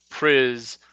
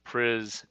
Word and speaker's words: Priz: from Pittsburgh in three priz rhymes with fizz I was told yesterday uh not price so pris and Rogan from Michigan